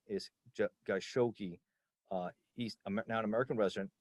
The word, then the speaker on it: Khashoggi: So it's 2018, and you have Jamal Khashoggi, and I'm mispronouncing his name, is Khashoggi.